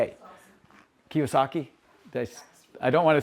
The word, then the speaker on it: Kiyosaki: Kiasaki. I don't want to say it because I'm afraid I'm gonna say it wrong. Huh? Robert. Robert Kiyosaki.